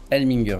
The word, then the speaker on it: Elmlinger: Alors, bonjour Sonia Elminger, je prononce bien?